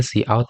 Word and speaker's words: cout: Jadi bagus untuk diketahui bahwa cout itu dipronounce cout dan cin itu dipronounce-nya adalah cin.